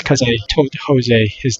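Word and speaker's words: José: cannot do that maybe it's because i told jose his name wrong everybody says my name wrong everybody calls me rosie i'm not cousin i'm jose so yeah jose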